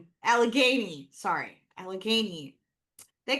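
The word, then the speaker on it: Allegheny: Well, well, it's the but how do you pronounce this again? Trans alagany. Alagany.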